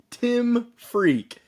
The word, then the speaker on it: Tim Freke: today we are blessed with another great guest Tim freak this is the correct pronunciation of his name I know that if